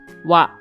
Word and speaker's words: は: This hiragana is pronounced ha, but as a particle, it is pronounced wa.